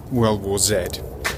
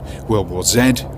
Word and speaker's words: World War Z: world news max Brooks World War Zed and incidentally it should be pronounced World War Zed rhymes with dead rather than World War Z rhymes with Glee anyway it's about a